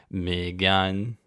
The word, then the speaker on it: Megan: those people asking edits my wife insists that we pronounce megan the welsh way it sounds beautiful but she gets annoyed that my family pronounces it like southerners so i popped it into google translate and it's me gun sounds like a weird